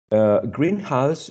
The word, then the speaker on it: greenhouse: And this is another case that we talked about, which is compound words, right, in which the meaning changes when you are stressing the first element, and also when you are stressing the second one.